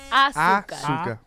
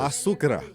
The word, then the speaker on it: azúcar: Roll your R's. Asukra. No. Azúcar. Azúcar. Azúcar.